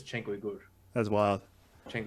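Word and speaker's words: Uygur: So his last name is pronounced the same way as Uyghur, like Cenk's. Yeah, I'm pretty sure it's Cenk Uyghur. That's wild. Cenk Uyghur, yeah.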